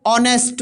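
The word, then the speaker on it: honest: अब प्रोनाउंसिएशन दोबारा निकालेंगे, देखो ऑनेस्ट मैन, ऑनेस्ट, ऑनेस्ट आ रहा है, तो यानी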